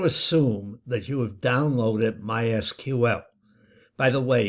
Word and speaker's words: MySQL: I'm going to assume that you have downloaded MySQL. By the way, you're supposed to pronounce it MySQL and not MySQL.